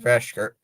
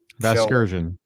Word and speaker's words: Vasgersian: Like Matt Vashker, the old guy who used to do the MLB The Show games, like MLB Vasgersian. Yeah, that's how you say his name.